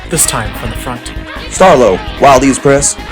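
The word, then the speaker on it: Starlow: Starlo, Wilde's press. The W in Starlo is silent.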